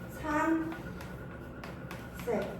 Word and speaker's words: 산세: 대표적으로는요, 산, 세. 지금도 봐봐. 니은은 아까 선생님이 이야기했죠. 뭐야? 비음이잖아. 비음은 울림소리이기 때문에 그 다음에 안 울림 예사소리가 왔잖아. 안 울림 예사소리가 오면 산세 라고 발음할 수가 있겠죠. 산세라고 발음할 수 있겠죠.